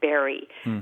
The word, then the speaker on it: bury: people up in Canada and they all say Barry so now she says brry uhuh that's interesting because I spend a lot